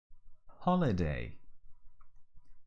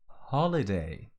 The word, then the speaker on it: holiday: very gentle and soft holiday holiday almost like holy day with a little aspiration in the beginning holiday holiday holiday even